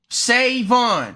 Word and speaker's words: Savon: Your name 2 syllables. Savon.